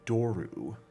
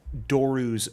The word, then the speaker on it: doru: To recognize this thing as a doru.